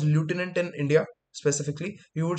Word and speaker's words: lieutenant: It is not pronounced lieutenant in India specifically.